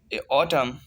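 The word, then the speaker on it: autumn: जैसे ऑटम, AUTUM N, the last N is silent in this word.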